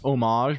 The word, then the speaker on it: homage: It's pronounced homage, but with a short a.